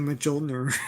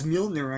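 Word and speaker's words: Mjölnir: I just said Majolner. I was That's what we said. We also Everyone says Majolner. Yeah. Then the movie comes out. It's like, oh, it's Mjolner, I guess.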